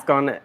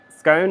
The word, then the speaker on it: scone: you that much and it's scone scone is in bone oh no blocked that's